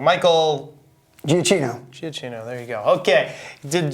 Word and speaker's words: Giacchino: This was not a John Williams score, and he had only, I always say his name wrong, Michael Giacchino, there you go.